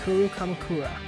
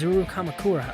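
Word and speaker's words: Izuru Kamukura: placard says hope Peak hes Peak Academy founder Kuru Kamakura the founder of hes Peak Academy and this name is zuru Kamakura I said it wrong the first time but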